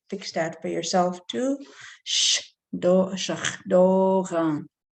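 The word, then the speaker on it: šaglóǧaŋ: Number 8 is shakdogan, shakdogan, shakdogan, shakdogan. So the S again is SH. Okay, so you could fix that for yourself too. Shakdogan. The N is nasalized.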